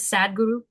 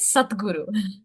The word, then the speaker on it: satguru: gurus is known as satguru again please don't pronounce it as sadguru I know it's spelled sad d g r u but it is satguru meaning the one who